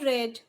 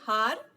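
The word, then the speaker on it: hour: we do not say har we say are or our isn't it so h is silent here so we use an before a silent h so here we have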